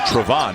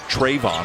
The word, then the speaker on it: Trevon: folks at Duke that his name is actually supposed to be pronounced Trevon, not Trayvon or Trayvon.